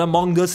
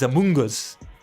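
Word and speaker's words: Amoonguss: let's go Among Us make sure you pronounce it properly otherwise it's gonna sound like you're saying something else from a from another game it's not among us it's a Mungus and then garados and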